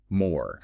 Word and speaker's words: Mor: Eyerrik um kept an older a sound. So, you get Mar. West Syriak. That sound shifted over time to an O. So, more right.